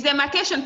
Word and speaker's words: demarcation: demarcation. That's how you pronounce it. Huh? Answer now. Is it correct? Is demarcation correct?